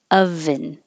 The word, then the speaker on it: oven: I know it looks like an O, but it doesn't sound like an O. It sounds like of, oven, oven. It's the same as lunch.